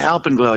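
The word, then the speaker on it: Alpenglow: digging this new album can you help me pronounce it though is it alpen glow yeah Alp and glow you got it yeah and it sounds like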